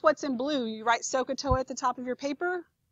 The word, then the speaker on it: SOHCAHTOA: So that's not a real word, but it's pronounced SOHCAHTOA.